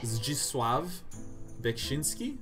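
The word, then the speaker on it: Zdzisław Beksiński: It is pronounced Zdzisław Bekshinski.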